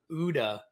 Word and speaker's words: OODA: and it's what you call the udda loop i think i said that right yeah because you said in the book it rhymes with gouda so that loop so what